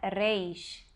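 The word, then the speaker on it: ריש: letra Reis essa letra A melhor forma de nosso pronunciar uns é fazer um R forte vibrante intervocálico como na palavra amar é esse Hum mas a verdade é que os israelenses eles fazem um leite aqui um pouco na garganta é difícil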